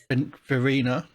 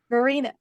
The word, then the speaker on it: Verena: Verena. Verena. There's an R.